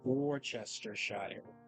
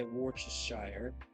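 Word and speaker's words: Worcestershire: So like Warchester and then there's other people who say Wareshshire and then Worstershshire and then Yeah, I feel like I pronounce every word or every letter when I say Weshshire, but you know Just one of those things.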